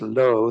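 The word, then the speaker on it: བློ: that's the first character it's pronounced low though and low is translated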